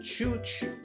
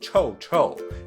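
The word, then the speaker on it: 臭臭: most men call it choo choo which translate to smelly and mandarin aha okay uh so it's actually pronounced cho cho in mandarin i'm glad i guess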